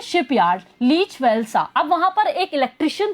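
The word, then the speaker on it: Lech Wałęsa: A farmer electrician of A shipyard लीच वेल्सा। अब वहां पर एक इलेक्ट्रिशियन था जिसका नाम था वो भी शिपयार्ड पे ही था, लेच वॉलेशा, प्रोनाउंस लेक वॉलेशा, लेक वॉलेशा हम प्रोनाउंस करेंगे उसको, ठीक है, जॉइन द स्ट्राइकर्स।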